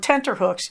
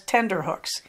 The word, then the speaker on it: tenterhooks: "Another favorite of mine is to be on tenterhooks, usually mispronounced as tenderhooks.